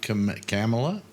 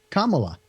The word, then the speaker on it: Kamala: Kamala. Like Mama but with a K.